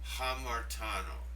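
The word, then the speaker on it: ἁμαρτάνω: Now, underneath you'll see the Greek word hamartano. Did you hear the HA sound at the beginning?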